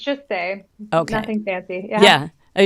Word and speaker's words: Saye: right I forgot to ask you how you pronounce okay yeah it's just say nothing fancy yeah yeah I just wasn't sure